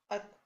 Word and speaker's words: अतः: लिखेंगे विसर्ग के बिना, अगर हम इसका उच्चारण करेंगे तो यह होगा अत। लेकिन यदि हम विसर्ग के साथ इसका उच्चारण करेंगे तो यह होगा अतः। और इसी प्रकार यह दूसरा शब्द है जिसको विसर्ग के साथ यदि हम उच्चारण करेंगे तो होगा प्रातः। अब आप देख रहे होंगे